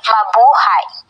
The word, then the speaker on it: Mabuhay: of welcoming Partners in the country Babu have pronounced as Mabuhay yellow word which means to like or long